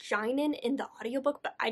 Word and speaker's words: Jainan: a marriage with another man named shannon it's pronounced jainan in the audiobook but i just it sounds too much like vagina so i'm going to call him janen that's how i read it in my head